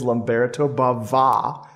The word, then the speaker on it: Lamberto Bava: genre master who is lamberto bava with a little uh an extra accent on the a there one more incentive of